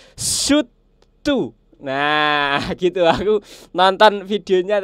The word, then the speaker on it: Soothe 2: yaitu adalah suu Nah jadi bukan Suti dua ternyata teman-teman cara bacanya itu bukan Suti du tapi adalah su tu nah gitu aku nonton